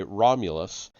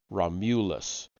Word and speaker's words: Romulus: In Latin, their names are pronounced with the accent on the second syllable, Romulus, Remus.